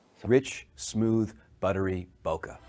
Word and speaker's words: bokeh: Rich smooth buttery bokeh I'm say bokeh but I know it's Boke sweet sweet bokeh Japanese don't have a a sound at the end of you know there's no sound like that at the end of their word so it's h so it's bokeh anyway um but you